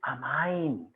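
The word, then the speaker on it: amine: नहीं है, तो इसलिए आप ये अब जबरदस्ती प्रोनाउंसिएशन में भैया कमी मत निकालना, कुछ कहते हैं इसे अमीन पढ़ रहा है गांव वाला, इट इज अमाइन, अब मैं तेरे मारूं अमाइन, ठीक है।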